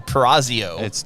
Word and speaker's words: Purrazzo: You keep saying Purrazzo. That's how you pronounce it.